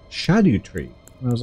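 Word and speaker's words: Scadutree: other day that um it's not SCU tree it's shadu tree and I was like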